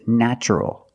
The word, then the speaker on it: natural: Also in this pattern, the T is pronounced with the ch sound. So the word is natural.